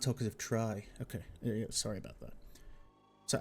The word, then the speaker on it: Talkative Tri: Talkative tree. Oh, it's pronounced talkative try.